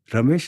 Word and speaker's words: Ramesh: He says, "Ramesh is 3 syllables. Ra, me, ish."